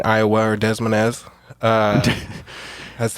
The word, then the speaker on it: Des Moines: But yeah, they're from Des Moines, Iowa, or Des Moines.